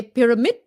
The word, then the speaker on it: pyramid: it right don't say pyramid pyramids and it's a d not a t at the end pyramid okay Pyramids of Giza